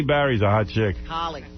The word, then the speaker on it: Halle: But she's Halle Berry's a hot chick. Holly. Her name is Holly.